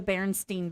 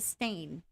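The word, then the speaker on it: Berenstain: it so for example I call him the baron Steen Bears Steen s i n and if you look at this it's a stain right so these are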